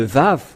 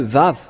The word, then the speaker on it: vav: vous dire voilà le vave que ce soit l'hébreu carré ou l'hébreu archaïque ou bien l'araméen impérial il lissent ils lisent tous ensemble que c'est V que ça se prononce il faut enlever un